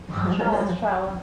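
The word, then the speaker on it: strzała: Strava. Huh? Strava. Spelled? How do you spell it? There is RZ together is Ż. So S, RZ, STR.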